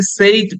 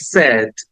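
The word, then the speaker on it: said: পরপর দিয়েছি একটা হচ্ছে আমরা নরমালি এটাকে সেইড বলি বাট ইটস নট সেইড it should be pronounce like সেড সেড সেড right আর এর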